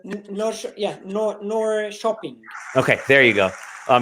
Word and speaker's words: Norrköping: Is that how you pronounce it? Nor shopping.